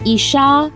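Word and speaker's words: איש: The two words are pronounced isha and ish.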